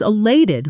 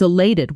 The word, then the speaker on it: elated: She was elated when she got the news. Now notice the pronunciation here. The stress falls on the second syllable.